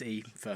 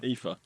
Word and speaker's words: Aoife: Is it Aoife? Aoife. Yeah. It starts with an A. Yeah. Come on. No, it's Aoife. Aoife. Oh, God. Yeah. That's not how they spell it in Final Fantasy.